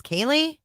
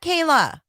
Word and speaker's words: Kaylee: was like and um my Auntie's name is Kaylee not Kayla I can't believe that